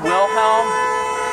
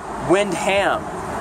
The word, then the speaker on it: Windham: It's not Wilhelm. Wilhelm, I was getting it confused with Mr. Wilhelm from Seinfeld. Mr. Wilhelm was George Costanza's boss. It's actually Judge Windham.